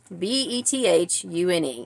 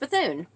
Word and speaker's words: Bethune: and then in so the name is bethon b e t h u n e and it's pronounced bethon they were pronouncing it Bethune which maybe just